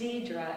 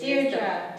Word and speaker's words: Dedra: Name is Dedra. Is that Dedra? Well, it's Dedra, actually. Dedra. Yes. Is the right pronunciation.